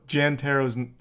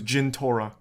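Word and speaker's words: Jentorra: __ ] clue also Jan tarot's that name didn't even come up you got that name wrong it was Jin Torah yeah that was the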